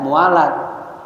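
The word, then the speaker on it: موالاة: Muwalatuha, bacanya mualat.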